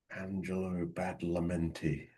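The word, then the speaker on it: Angelo Badalamenti: Angelo Bad Lamenti. That's That's correct. Right. I believe I think I've been pronouncing it wrong for years and I think you got it.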